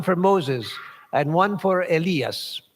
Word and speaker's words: Elias: moses and one for elias i stumbled on that name because it's often said elias and either pronunciation is correct while he yet spake